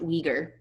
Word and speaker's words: Uyghur: million uyghurs all right this is pronounced uyghur to these state-run detention